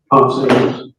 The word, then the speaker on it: Ponce: And Officer Ponce, is that how you pronounce his name, Ponce? Ponce.